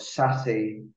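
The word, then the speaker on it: SASE: the following slides um but sassy is as it's pronounced is hugely important in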